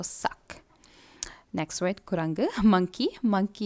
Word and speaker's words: sac: K polara pronounce pannu. So, sac.